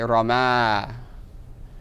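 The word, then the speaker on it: رمى: Right, you'll just say rama. Right, because that last letter will be pronounced as an alif.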